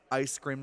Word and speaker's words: Aijscram: Ice Cream is spelled AIJSCRAM. It sounds Dutch, but it kind of is not.